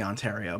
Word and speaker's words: Ontario: That is how you say Ontario, by the way. On in Ontario, right?